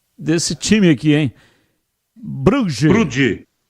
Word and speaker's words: Brugge: O Brugge, qual é a pronúncia desse time aqui, hein? Brugge.